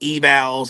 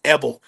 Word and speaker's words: Evals: people a lot of people get confused about how you say their last name because of how it's spelled we get evals and this but it's Evel like kind of like um Evel uh like